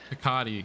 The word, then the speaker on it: Picotti: I'm gonna go with I'm gonna go with Picotti. Picotti. No, that that's the correct pronunciation. Yeah, for sure.